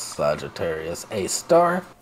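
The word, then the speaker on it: Sagittarius A*: Pronounced loud, it's Sagittarius A star.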